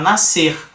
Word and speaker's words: nascer: Mas na pronúncia fala nascer. Então é apenas um som aqui no SC.